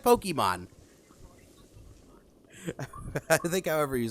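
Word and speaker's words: Pokémon: That's right, Pokemon has an accent on the E.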